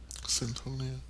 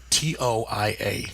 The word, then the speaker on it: Cyntoia: I swear I'd been reading Centonia for a smooth year and change when her story kept popping up. So I formally apologize. I didn't know how to say it, so I was just letting everybody say it how they say it. It is Unfortunately. Cyntoia. Yes, There is no second N.